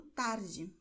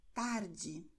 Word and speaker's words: tarde: é que você tem a combinação DI e DE com o som de D, ok? Então, você pronunciará Diego tarde, do mesmo jeito que você diz a letra J em jeans, ok? Nessa palavra estrangeira, o mesmo som.